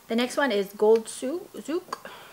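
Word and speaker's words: souk: The next one is Gold Zouk. I can't pronounce it, S-O-U-K, Zouk, which is like a bazaar.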